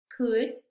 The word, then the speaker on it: could: Aquí la L no se pronuncia, ¿sí? Vamos a ver cómo pronunciamos estas palabras. Talk, walk, should, could, have, palm.